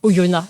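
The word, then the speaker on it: Oyonnax: C'était donc Oyona, on ne prononce pas le X, on m'y reprendra plus.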